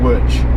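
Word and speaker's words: Łódź: going to pass by would be Wirch, which is spelt Lodz. It looks like Lodz, but it's pronounced Wirch apparently, and Warsaw.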